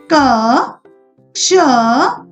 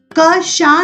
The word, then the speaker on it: कक्षा: क शा नहीं पढ़ना इसको, कक्षा।